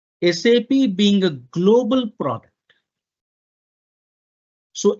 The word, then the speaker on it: SAP: processing all right now we always pronounce this as sap only and not as sa okay but why uh